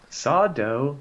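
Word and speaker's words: Sardo: of the dark yeah sawdo no mr accent on the dough that guy i don't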